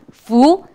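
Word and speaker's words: 福: Bacanya Fu, artinya berkat.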